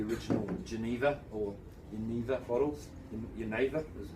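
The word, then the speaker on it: Genever: Geneva is how you say it.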